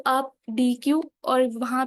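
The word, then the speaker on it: deque: डी क क्या है स्पेलिंग में डिफरेंस है दोनों के लेकिन पढ़ा इनको डी क ही जाता है अब ये हमारे पास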